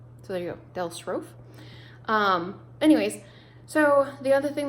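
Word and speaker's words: Sroufe: And the main author of the cookbook, Del, he said one time that his last name is pronounced like loaf. So Srofe. So there you go. Del Srofe.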